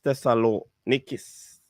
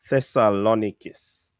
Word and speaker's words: Thessalonikis: the greek club aries tessa lo nicus that that's the pronunciation i'm giving you it might be different in the greek language however it's a greek club artis thessalonikis all right and it's